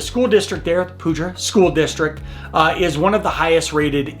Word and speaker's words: Poudre: its top-rated schools now the pudra or Poudre if you're French there's all these arguments on how you pronounce it the school district there at the Puja school district is one